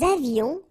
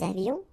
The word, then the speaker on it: avions: Nous avions, final S not pronounced, and then little liaison. Nous avions.